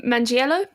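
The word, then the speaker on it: Manganiello: like Joe I can't remember how do you pronounce his name Joe Mangilano Mangello Mangello um when he does the dance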